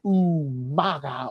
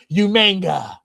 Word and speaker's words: Umaga: himself, John Cena versus Umaga, or as Will Rodriguez would say, Umanga. Umanga. Did he really say that? He did. He like unironically, like he just couldn't say it right.